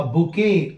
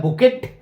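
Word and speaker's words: bouquet: बुके देते हैं ना, इसमें टी साइलेंट होता है, इसे बुके कहते हैं। लिखा रहता है बुकेट, इट इज नॉट बुकेट, इट इज बुके।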